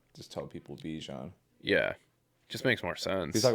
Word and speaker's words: Bijan: He's like, it's pronounced Bijan. Yeah, that one, I mean. But he's like, even I like just tell people Bijan.